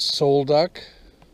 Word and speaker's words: Sol Duc: go to the falls and I guess you pronounce it Soul duck anyway we're going on our way to Sol duck Falls it's an eighth of a mile ah